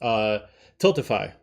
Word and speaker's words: Tiltify: And the link is specifically for a site, I forgot how it's pronounced, Tiltify.